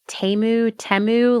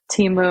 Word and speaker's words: Temu: Temu, like, Timu.